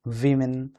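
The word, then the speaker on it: women: Under pressure on main, वीमेन and children. वैसे ओमेन ओमेन आप इसको पढ़ते होंगे, बट इसका सही प्रोनाउंसिएशन है वीमेन। ठीक है, क्या पढ़ेंगे आप? वीमेन।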